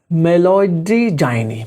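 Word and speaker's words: Meloidogyne: बना हुआ है आजकल मेलोडीजाइनी मेलोडोजाइनिया मेलोडिजाइनी ठीक है तो कैसे याद करोगे आप उसको मेलिडो जाइनी ऐसे करके प्रोनाउंस करोगे आप मेलिडोजाइनी ठीक है क्या है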